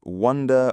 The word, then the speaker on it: wonder: I pronounced wonder with the uh as in uh wonder with the uh vowel sound in up.